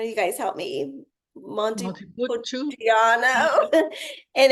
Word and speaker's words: Montepulciano: Montepulciano.